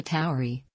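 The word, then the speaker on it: Tauri: Taurus the Bull is designated alpha Towery pronounced alpha Towery which means alpha Bible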